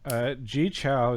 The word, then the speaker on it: Gechao: Gechao is here. Gechao, is that how you say your name? It's gechao.